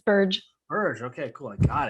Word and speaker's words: Burge: Is it pronounced Burge? It's a soft G. It's Burge.